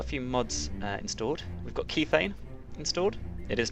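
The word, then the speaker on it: Kethane: we've got a few mods installed we've got key thing installed it is pronounced key thing not ketane as I was previously calling it uh and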